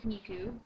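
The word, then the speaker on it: Nikoo: is Nikki um well my real name is niku but a lot of people seem to butcher that somehow it's just n i k o o but then you wouldn't believe how many different pronunciations of that I hear so I generally go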